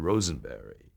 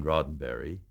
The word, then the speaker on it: Roddenberry: i'm george takei here to meet uh mr rosenberry and you know you're nervous enough as you